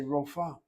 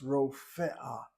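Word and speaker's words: רופאה: Furthermore, they don't bother to sound the aleph. They say rofa. This is what I hear people say, rofa. The word is not rofa, it's rofe'ah, and it's not rofa'ah.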